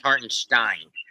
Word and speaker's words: Hartenstein: It's pronounced Hartenstein.